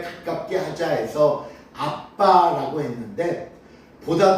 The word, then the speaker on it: 아빠: 옛 성경에는 이것을 아바라고 번역했습니다. 그래서 아바, 아버지 했다가 조금 더 일반적인 원 발음에 가깝게 하자 해서 아빠라고 했는데 보다 더 정확한 발음은요, 아의 비읍 받침 들어가고 바예요.